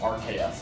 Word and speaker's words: Arceus: Arceus is, I know it's pronounced RKS, but I like Arceus.